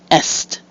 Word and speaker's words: est: or either is acceptable now EST has has a second meaning and that's the direction East in that case it follows the normal rule for E followed by two consonants and is pronounced EST now let's take a